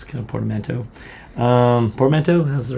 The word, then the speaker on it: portmanteau: Portmanteau?